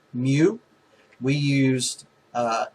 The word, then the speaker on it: mu: class instead of using this kind of weird looking u which is actually pronounced mu we used uh x